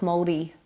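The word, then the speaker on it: Māori: Is it Maori or Maori? Got to roll the R so it's mouldy.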